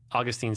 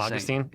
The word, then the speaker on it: Augustine: Augustine is in Florida and St. Augustine is in heaven.